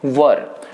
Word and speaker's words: were: तो ध्यान रखिए, यहाँ पे कुछ लोग इसे वेयर पढ़ते हैं, इसका प्रोनाउंसिएशन क्या है, वर।